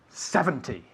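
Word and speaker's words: seventy: difference between 17 and 70. see okay 17 and 70. 17 70. you'll notice that 17 the the the emphasis is on the second syllable where 70 the emphasis is on the first syllable so for example 13 30.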